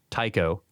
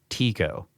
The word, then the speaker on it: Tycho: First, it is pronounced, he spells it Tieco. Tycho, not Tico.